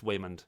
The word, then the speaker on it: Waymond: thought it was um I thought they were mispronouncing Raymond but it's it's Waymond yeah no I I